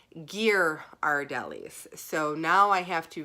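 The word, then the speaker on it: Ghirardelli: right on the wall is the pronunciation of their chocolate company and it is gear our delis so now I have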